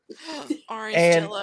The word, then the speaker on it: Arangelo: I was talking to this 80-year-old lady, and I didn't know how to pronounce her name at first, and her name was Arangelo. Orange And Jello.